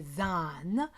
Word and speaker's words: than: Look at than, take away the T, it's a han as in hand. Now, you might want to exaggerate it and overpronounce it and make say than, hand.